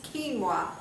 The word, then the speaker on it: quinoa: know what quinoa is it's not doesn't look like it's uh pronounced that way but this is quinoa this is something from